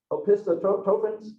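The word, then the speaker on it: Opisthokonta: and I actually looked up pronunciation of this. Let me say it, I can remember it. Opistotropins.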